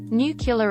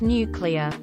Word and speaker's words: nuclear: Library instead of library new killer instead of nuclear I can't pronounce a